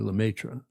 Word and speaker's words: Lemaitre: Lemaitre.